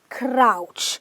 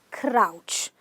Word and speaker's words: crouch: Now this seems to be almost rhyming with slouch, but this is crouch. Again, you open your mouth wide and you say crouch.